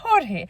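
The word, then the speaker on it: Jorge: তখন same name হয়ে যাবে হরহে।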